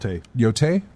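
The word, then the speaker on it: Yōtei: And then finally, the big one was the reveal of Ghost of Yoti. Is that Yote? Yeah. Thank you. Much easier to pronounce than Tsushima. Yote?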